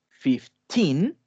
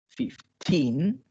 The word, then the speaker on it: fifteen: de nombrar estos números yo debo acentuar la sílaba teen para mencionarlos bien tiene que ir en el cargar la voz tiene que ir justamente aquí al último entonces por ejemplo si